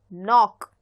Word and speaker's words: knock: Let's take an example of the word knock. Knock is spelled as K N O C and K. In this word, the letter K is not pronounced, which means that it is there but it is not pronounced.